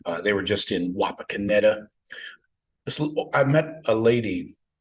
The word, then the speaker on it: Wapakoneta: oh I'm from she she pronounced it a little differently she put this emphasis like on a different letters which is weird I think she called it wapa kanetta Wapakoneta so I don't know if